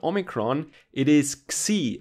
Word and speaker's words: Xi: not Omicron, it is Xi, as we pronounce it in German. I don't know how to pronounce it in English. Xi, yeah?